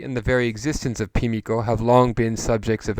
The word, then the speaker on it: Pimiko: its focus on somebody called Pimiko, sometimes called Himiko as well, but Pimiko is the classical pronunciation of it, the Queen of Wa.